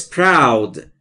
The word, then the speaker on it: proud: He looks proud. He looks proud. دوستان توجه بکنید تلفظ proud.